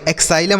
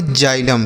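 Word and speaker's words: xylem: एक्साइलम ऐसे कुछ पढ़ेंगे? नहीं। इसे हम पढ़ेंगे जाइलम।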